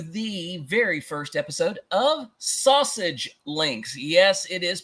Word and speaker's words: SASG: welcome everyone to the very first episode of sausage links yes it is pronounced sausage uh I am your co-host jeie V and